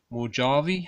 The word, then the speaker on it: Mojave: Next one we have is Mojave, I think you pronounce it, like the Mojave Desert, I think.